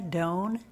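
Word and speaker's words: Dohn: your name once again my name is Doan last name is spelled d as in dog o h n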